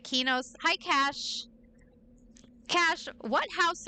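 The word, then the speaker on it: Qeynos: I I always called it Quenos, but then EverQuest 2. Um, Heather, what's her name? Heather, we talked about this was calling it Kenos.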